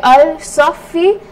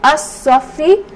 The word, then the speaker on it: As-Safi: And we said that the definite article when you have a sun letter is not pronounced. So I will not say Al-Safi, I will say As-Safi.